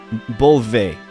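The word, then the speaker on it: Beoulve: He's telling me how to pronounce Ramza's last name, Bolvi. Alright, got it. Bolve.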